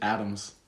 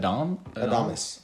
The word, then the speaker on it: Adames: I thought it was just Adams. Adams? Does that not look like Adams? Willy Adams got traded from the Rays to the Brewers. How do you say it? Adames. Adames.